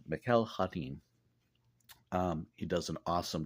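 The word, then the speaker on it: Mikel Janín: by Tom Taylor drawn and colored by uh Mikel hanin is how his name is pronounced I looked on YouTube to see previous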